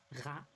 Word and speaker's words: rat: Rat. A rat. Rue is exactly the same as in English, but you do not pronounce the final T.